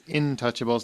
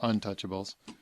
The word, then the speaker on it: Intouchables: H said wait and it's Intouchables not Untouchables Brian um Hugh you're